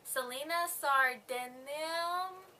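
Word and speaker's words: Celaena Sardothien: thr the glass is about a girl named Selena sard that's how you say it Selena is actually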